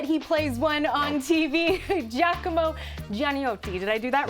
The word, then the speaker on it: Giacomo Gianniotti: Giacomo Giannotti. Did I do that right? Yeah, you crushed it. That was great. Come si pronuncia in Italiano? Giannotti. Giacomo Giannotti.